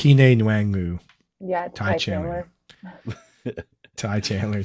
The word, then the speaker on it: Kene Nwangwu: I don't even know how to pronounce his name correctly, but Ty I think Chandler. It's Kene Nwangwu.